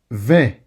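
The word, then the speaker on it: vingt: 20, 20. Okay, this is 20. 20, 20. Don't pronounce the G or the T.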